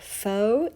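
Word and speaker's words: faux: to make this sniglet is the word foe foe is a French word that we have adopted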